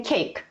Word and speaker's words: 케이크: Não vai ler cake como em inglês. A gente vai ler com esse som mesmo. Cake.